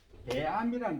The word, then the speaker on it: 배아미: 그래서 저 나온 게 이제 배암이라는 게 나왔어요. 배암이. 배암이라고 발음할 수는 잘 발음 안 되면 뱀이 이렇게 하세요.